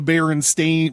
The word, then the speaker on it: Berenstain: However, the book in this time stream are the Berenstain. Back to the website. I should have said A, not E, in the last syllable.